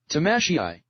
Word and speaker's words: Tamashii: Tamashii. Tamashii. You know what that reminds me of? Yes. Big Hero 6. Oh yeah, Tamashii.